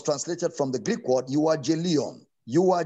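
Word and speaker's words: εὐαγγέλιον: word gospel was translated from the greek word you are j leon you are j leon e u a double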